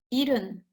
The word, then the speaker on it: 일흔: 예순 여덟, 예순 아홉, 일흔. C'est écrit ilhun, mais on ne prononce pas fort hun, quand on prononce comme ilhun. 71, 일흔 하나, 일흔 둘, 일흔